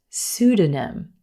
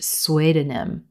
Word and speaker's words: pseudonym: way up until College this word is pronounced pseudonym pseudonym I don't know why but I looked at this word for the longest time and thought it was pronounced swedenim sweet in them I I don't even know where I came up with that but the p is totally silent in this word emphasis on the first syllable pseudonym and a pseudonym